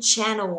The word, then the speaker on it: channel: Từ này mang nghĩa là kênh truyền thông, mà trọng âm của nó rơi vào thứ nhất, cái từ kênh nhá, channel, chứ mà channel đâu nhá, đừng đọc nhầm thành channel nhá.